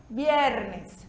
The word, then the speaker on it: viernes: E o V, em língua espanhola, tem o som da nossa letra B de bola. Então, a gente pronuncia viernes, tá certo?